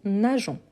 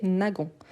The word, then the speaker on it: nageons: Donc, nous nageons. Pour ne pas prononcer nagon. Donc, c'est pour ça la règle. C'est une question de phonologie, de prononciation.